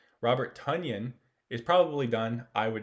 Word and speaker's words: Tonyan: touchdown jay sternberger had two catches so robert tanyan tanyan i'm sorry robert for mispronouncing your name robert tunyan is probably done i would not have any